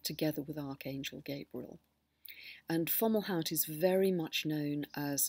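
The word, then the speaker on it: Fomalhaut: are opposed by a fixed star called falout falout is spelled f o m a u l h a u t and it's 3° 51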